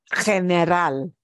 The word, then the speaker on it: general: It's just that we have to pronounce it the Spanish way, which will be we punch the last syllable a little bit more and we get the G instead of general. It is general.